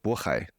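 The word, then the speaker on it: 渤海: speak Korean, Palhe, and I suppose the native pronunciation would be Bohe. So in Mandarin, it's called Bohai, Bohaiguo, and that bordered Silla, which I suppose was the precedent to Korea, and bordered Khitan.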